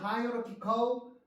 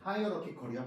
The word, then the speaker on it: hierarchical: One consequence of hierarchical organization. hierarchical이야 발음이 얘들아.